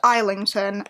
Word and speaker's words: Islington: by James Islington isington I do it every single time it's pronounced isington and I get it